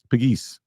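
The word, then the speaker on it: Pegues: P E G U S Pis. Okay, that that's I mean that's not phonetically right. That's how you That's how he says it.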